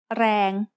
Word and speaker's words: แรง: A word using the long vowel สระแอ is แรง which means power. แรง has a low-class consonant and a live ending, so it is pronounced mid-tone.